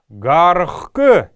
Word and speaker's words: гаргх: Гархк, гархк, гаргх пишется, но гаргк произносится.